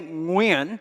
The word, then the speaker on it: Nguyen: Growing up as a Vietnamese immigrant and refugee kid in America in the 1970s and 80s, no one could say Nguyen, which is how it's actually pronounced in Vietnamese.